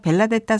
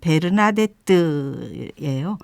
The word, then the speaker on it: 베르나데트: 하는데이 이름이 참 익숙하죠 우리는 그냥 벨라뎃다 성녀 벨라 됐다 이러는데 원래의이 발음은 베르나데뜨예요 하는데 성녀의 작은 삶이라는